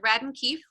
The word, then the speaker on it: Radden Keefe: Is that how you pronounce it? Radden Keefe?